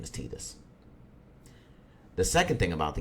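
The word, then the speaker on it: Tidus: Titus yes his name is Titus I know it's spelled t-i-d-u-s it's Titus and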